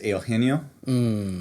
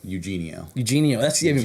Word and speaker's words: Eugenio: Yeah, but, so as a first name, and like in Hispanic culture, that's how it's pronounced. It's like more like a io. Yeah. At the beginning, whereas like in like for me, it's the last name. I just say it as wide as possible.